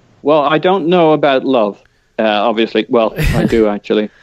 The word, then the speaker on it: Löw: and that Joachim Löw, how do you say that? Love. Okay, Joachim Löw would replace him.